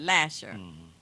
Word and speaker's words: Lasser: But Lasser is the street. Some people pronounce it Lasher.